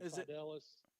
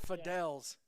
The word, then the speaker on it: Fidelis: I knew it. I said Fidels.